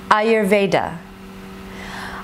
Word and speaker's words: Ayurveda: Ayurveda is pronounced A-yer-ve-da. Ayurveda.